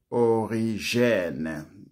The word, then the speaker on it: Origene: Il secondo negatore dell'esistenza dell'inferno è Origene. Lo pronuncio in francese, l'ho studiato in francese.